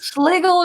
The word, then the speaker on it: Schlegel: I am joined this day, I'm trying to think what time of the day it is, by author Lindsay Schlegel, Rhymes with Bagel, talking about her new book.